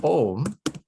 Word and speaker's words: Om: Okay, so Om is actually consists of the syllable of A plus U plus Ma, A-U-Ma.